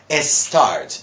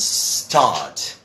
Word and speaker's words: start: or this in Spanish many people what they do is they try to add a vowel sound before it so they say s school or a skateboard or s start okay now mind you my dear friends in English we say school skateboard and start so I know one